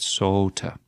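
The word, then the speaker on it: soote: sort means sweet and notice the long O here uh in middle English you kind of have to pronounce that a little bit different right saut uh April still today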